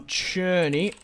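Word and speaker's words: Szczęsny: something insane but he's a good player um churny obviously a fan oh where is churny it's it's not spelled like it's pronounced churny but it's spelled like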